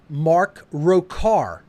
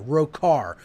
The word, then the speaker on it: Rokahr: Church of Satan under an assumed name of rokahr which is spelled r h o CH AR row car row car is the